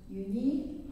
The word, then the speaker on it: Younhee: My name is Younhee, but friends call me Yuni or Younhee. Younhee is more accurate pronunciation, though.